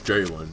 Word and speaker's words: Jaylen: Okay, is it Jayla with a... There he is, there's the new chunk. Is it Jayla? Am I saying it right? Is it Jayla? It's Jaylen, man.